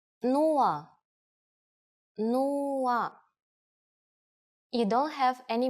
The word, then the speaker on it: нула: It's similar to one of the versions of zero in English, but with a different pronunciation. Нула.